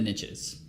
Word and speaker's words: niche: riches are in the niches which is why I say Niche because that rhymes with Rich yeah um even though